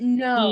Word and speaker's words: know: Yeah, he didn't know. He- The K is silent.